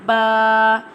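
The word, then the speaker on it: باء: Alif pronounced from the empty space of the mouth, and ba pronounced from the wet part of both lips.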